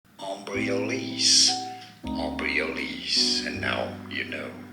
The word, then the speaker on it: Embryolisse: Embryolisse. Embryolisse. And now you know. Embryolisse. That's the pronunciation we're going with.